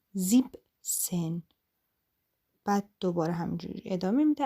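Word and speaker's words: siebzehn: این عدد اینجوری کردن که نمیگن زیبن سن زیبن سن اشتباهه میگن زیب سن بعد دوباره همینجوری ادامه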